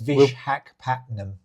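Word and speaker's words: Visakhapatnam: I do, and I always have trouble pronouncing this place. It's I won't press you have for a go. it. It's Vishakhapatnam.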